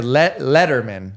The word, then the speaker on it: Letterman: It's a Letterman. Right. Letterman. What did I say? Leather? You said like letter or like I said ladder.